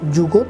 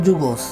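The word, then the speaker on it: זוגות: 5 বছর ধরে রইল যুগত নেতাদের হাতে। যুগত শব্দের হিব্রুতে অর্থ হচ্ছে জোড়া। আশকেনাজি ইহুদিরা উচ্চারণ করেন যুগোস।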